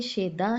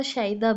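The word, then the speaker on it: شیدا: अब इसकी सही प्रोनाउंसिएशन देखो, मैंने शेदा भी पढ़ा, शदा भी पढ़ा। ठीक है? तो मैंने जान के पढ़ा कि आप मुझसे यह क्वेश्चन करेंगे कि मैम ये दो प्रोनाउंसिएशन दो तरह की अदायगी आप क्यों करें? असल लफ्ज होता है शदा। ठीक है? शदा यानी चाहने वाला। यह शोहदा नहीं लिखा हुआ।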